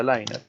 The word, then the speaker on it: liner: Y podemos tener un liner, otra palabra rara, liner, se pronuncia liner, donde este liner puede ser una intermedia o puede ser una aislación.